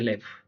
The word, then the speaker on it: לב: corazón en hebreo se dice lev y se escribe con lamed y bet, tal como el pesaj, ¿no?